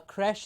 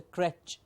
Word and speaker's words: creche: so that you know a creche is pronounced as creche and not a crèche. It's not a crèche, it's a creche. That's a sh sound and not a ch sound.